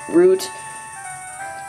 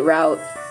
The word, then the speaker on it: route: So, yeah, just in case you guys, get mad at me because I pronounce it root. Sometimes I'll pronounce it route.